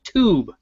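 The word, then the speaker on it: Tüb: of the company called tube and it's spelled like on her shirt tub with those little dots above it and that means ooh and what's that kind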